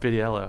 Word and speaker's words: Vitiello: And could you pronounce both your names for me, please? Vitiello. Vitiello.